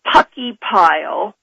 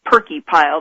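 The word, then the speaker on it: Purckeypile: about seismograph stations in Puckey Pile, spelled P-U-R-C-K-E-Y-P-I-L-E, and some people call it Perky Pile. I've heard both pronunciations, and Toledo, Alaska.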